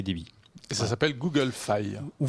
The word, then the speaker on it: Fi: Et ça s'appelle Google Fi. Ou Fi, oui. On le prononce à la française ou à l'anglaise, peu importe.